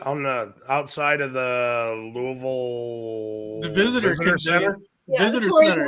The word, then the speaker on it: Louisville: is it louisville or louisville how do you say it louisville you have to say it like you have marshmallows in your mouth oh this conversation with